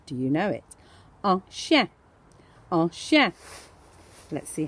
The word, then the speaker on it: chien: So if you're going to spell this one, remember it's I-E-N. Chien. And remember, we don't pronounce that last letter most of the time in French.